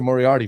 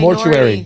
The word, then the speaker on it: Moriarty: Moriarty, very simple on all platforms.